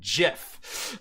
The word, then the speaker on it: GIF: There's two different ways of spelling it, and it's still pronounced with a J, right?